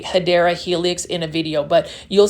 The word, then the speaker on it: Hedera helix: Now, this is one of my favorite plants to yell the name Hedera helix, or what you call, the correct way to say it is actually Hedera helix or English ivy.